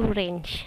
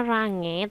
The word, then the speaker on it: range: ada satu tambahan yaitu range tulisannya range Tapi bacanya range ya Nah di sini ada